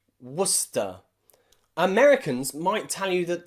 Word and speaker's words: Worcester: there are cities and places in english that often have a silent sea especially in my country the uk england where i live there are places like leicester and gloucester and worcester okay and nearly all of